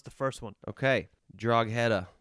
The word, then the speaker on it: Drogheda: So try and pronounce the first one. Okay. Drogheda. Drogheda. Let me try a couple different pronunciations. Drogheda. That's the same thing. Drogheda. Drogheda.